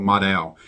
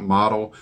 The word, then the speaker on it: modal: And it's actually made out of a material called modal. It's spelled M-O-D-A-L. I'm assuming I'm pronouncing that correctly. It's not model.